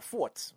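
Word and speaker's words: Furz: word um and i how do you say fart in german what what is it called what forts forts forts okay so it's like a fart it's like forts forts yeah it's like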